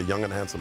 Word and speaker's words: Yang Hansen: Somebody online saying that that you pronounce his name like say young and handsome real fast.